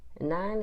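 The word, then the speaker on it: nein: whole on my own nine is how you say no in German I still love saying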